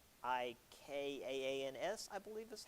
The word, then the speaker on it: Afrikaans: the regional African dialects, so it's known as Afrikaans, Afrikaans, I believe is how it's pronounced.